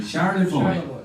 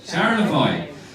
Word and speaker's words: Charlevoix: How do you pronounce that lake that you call there? Charlevoix. Charlevoix.